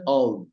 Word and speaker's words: of: আর ও দিয়ে একটা এফ, উচ্চারণ হচ্ছে অভ।